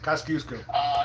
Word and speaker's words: Kosciuszko: The smallest National Park Service site is a 0.02-acre Philly National Memorial named for this Polish-born man and rhyming with Moose Go. Let's say Pulaski. Who is Kosciuszko? Right. Kosciuszko.